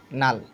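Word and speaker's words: null: এর মত কি হবে ইউ এর উচ্চারণ হবে আ এর মত মত তার মানে তোমরা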